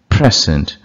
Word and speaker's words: present: Contract அப்படிங்கிறது noun, கான்ட்ராக்ட்ங்கிறது verb. முதல் சிலபில் இப்போ உச்சரிக்கிறது வந்து என்றைக்கும் நவுனு, ரெண்டாவது சிலபில் உச்சரிக்கிறது verb. Conduct, conduct. Object, object. Subject, subject. Present, present.